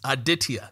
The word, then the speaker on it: Aditya: entrepreneur calling in from just north of Dallas aditia how are we doing doing great how are